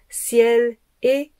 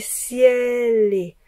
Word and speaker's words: ciel et: Jaunit le ciel et rougit ciel et ciel-les. Donc, l'enchaînement, c'est au lieu de dire ciel et, on dit ciel-les.